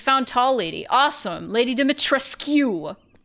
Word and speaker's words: Dimitrescu: Lady Dimitrescu. They say her name wrong. They say it weird in French. It is, Romanian. Lady Dimitrescu.